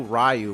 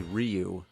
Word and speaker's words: Ryu: Yeah, back then, nobody knew how to pronounce the names. It's like in Street Fighter. We didn't know Ryu was actually Ryu.